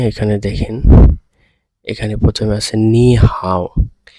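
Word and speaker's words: 你好: করি তাহলে পরে এখানে দেখেন এখানে প্রথমে আছে নি হাও। নি হাউ এইটার উচ্চারণটা দেখেন এখানে আই এর উপরে আই এর উপরে এরকম একটা টোন দেওয়া আছে এই টোনটা আমরা পড়ার সময় কিভাবে পড়বো নি হাও নি হাও ঠিক আছে এইখানের এই এইখানের এইটা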